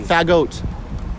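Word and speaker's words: Fagott: Bassoons are known as the F-A-G-G-O-T-T. Really? Fagot. That's how you Really? pronounce bassoon.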